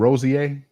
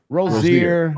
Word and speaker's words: Rozier: Rozier. Rozier.